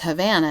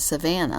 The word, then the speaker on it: Havana: said yes that's because it's Havana but it's not spelled like Havana Cuba it's spelled like Savannah Georgia right so now every